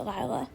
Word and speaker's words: Lila: the name Lila minetti I'm not sure if it's pronounced Leila or Lila but I'm going to pronounce it Lila in this country a name spelled this way is usually pronounced Lila so I'm going to stick with Lila her name was copyrighted